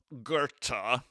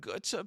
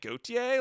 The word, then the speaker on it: Goethe: This is what Goethe puked. And I was like, who? Because it's like, it's spelled like Goethe. So I was like, oh, like Gautier?